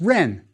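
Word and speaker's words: rn: more about him later next try this noun pronounce it yes Ren it means name one last word for today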